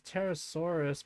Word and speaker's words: Pterosaurus: I know it says Pterosaurus, but the P is silent.